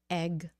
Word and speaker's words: egg: is for egg H Egg E egg egg egg e egg egg okay so don't make it a long a sound egg egg egg okay